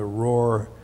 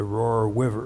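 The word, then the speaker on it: Roer: I know as the campaign went through Germany, I remember one time we came upon the Rohr, R-O-E-R is the way they spell it, the Rohr River, which in its basic directional flow is north and south.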